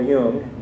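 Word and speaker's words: Jung: a book um about a psychologist named Carl Yung ju n is the way his name is spelled and then th those who kind of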